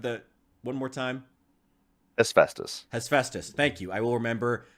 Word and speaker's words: Hephaestus: One more time, the pronunciation of the... One more time. Hephaestus. Hephaestus.